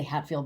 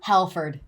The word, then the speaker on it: Halford: Tasco will always be the guy that reintroduced I want to say Hatfield, but I don't think I'm pronouncing it right. Judas Priest? Yeah. Halford? Halford.